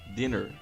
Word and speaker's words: dinner: Então aqui o tracinho significa a sílaba tônica. Vem logo depois dela. Então din. Aí o pontinho separa a sílaba.